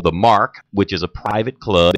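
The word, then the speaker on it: Marque: it's going to be at a business that's called The Mark which is a private club and that's spelled m a r qu e it's at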